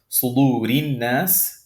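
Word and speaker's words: صدور الناس: And the first situation is when it has a kasra or kasratan below it. For example, sudurin nas. This is rin nas, sudurin nas. That's the example that you see right there.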